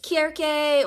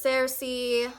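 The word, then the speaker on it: Circe: if you didn't know Greek does not have the C Sound making a s sound they actually only used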